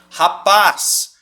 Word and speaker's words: rapaz: ela é uma oxítona rapaz Qual que é a sílaba tônica é o paz a última sílaba tá ou seja ela é uma oxítona e eu não vou